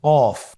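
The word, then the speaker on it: كاف: কাফ উচ্চারণের ক্ষেত্রে অবশ্যই পাতলা করে উচ্চারণ করতে হবে এবং 3 আলিফ টেনে পড়তে হবে।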